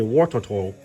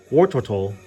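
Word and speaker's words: Wartortle: warart turtle I keep I mispronounced warart Turtle for like the longest time I would say war ttle war Turtle but it's War turtle and Squirtle people don't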